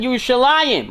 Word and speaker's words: Yerushalayim: So therefore we pronounce it Yerushalayim. We stick the Yud in, symbolizing that's a tale of two cities.